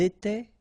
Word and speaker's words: étaient: Remember, final S, here, final T, and then here, E and T, you don't pronounce them. So you will get était, okay, for all these forms, okay?